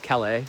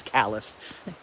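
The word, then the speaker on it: Calais: a half hours from We crossed at Callus, which looks like it's pronounced cala, which it should be. But what's the saying? If they say Calala, they're from away. So, the correct misprononunciation is callous.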